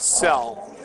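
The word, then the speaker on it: Soell: You know, I mean, we pronounce OE a very special way in this country, and we pronounce it other ways in other countries.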